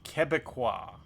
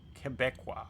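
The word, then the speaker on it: Québécois: It's pronounced Kebeekqua. Kebeekqua. Quebecqua. Click of him not know what condensation is. Kebeekqua known as Quebec is people associ associated with Quebec.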